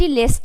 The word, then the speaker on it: lest: अगर लेस्ट लगेगा, पहले तो लेस्ट पे आप एक चीज़ मैं बताना चाहूँगी कि यहाँ पे क्या है, LEST लिस्ट है।